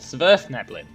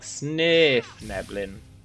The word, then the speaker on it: Svirfneblin: Pretty sure it's pronounced more like Svirfneblin.